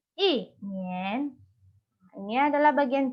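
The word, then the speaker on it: 一年: Bagian B ini adalah modulasi nada pertama ketika bertemu dengan nada kedua. Contohnya adalah 一年. Nah, setelah dimodulasi, dibaca menjadi 一年.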